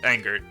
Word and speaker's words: Angert: So you say it like anger, and you just put a t at the end. Angert.